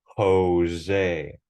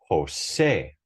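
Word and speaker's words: José: In English, we say Jose, but in Spanish, we say Jose, Jose. And that accent mark has to be there because the emphasis is on the last syllable, Jose.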